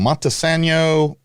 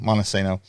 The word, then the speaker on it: Montesano: Montesano, like Insano, Montesano.